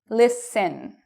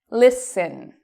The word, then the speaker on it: listen: that's a big word, usually, not always, usually, we do not pronounce the T. So what are some examples of this? This, how do we say it? Listen. Listen.